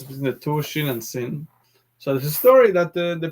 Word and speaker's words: Sin: left this one says sin sounds like an s once it has a vowel so what's the difference between the two shin and sin so the story that